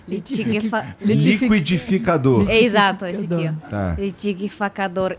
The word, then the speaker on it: liquidificador: Quais são as palavras que pra você é difícil de pronunciar em português? Em português? Tem umas... litigavacador. Liquidificador.